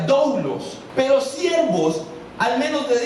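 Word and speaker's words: δοῦλος: Y siervos fue traducida de una palabra del griego que se pronuncia doulos, pero siervos al menos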